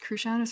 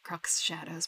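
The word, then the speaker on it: Cruxshadows: I actually don't know if it's pronounced Crew Shadows or Crux Shadows, but I think it's Crew Shadows.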